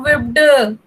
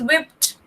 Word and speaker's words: whipped: Actually, spelling तो D है, लेकिन इसका sound T जैसे आता है. Okay? This is not whipped. This is whipped.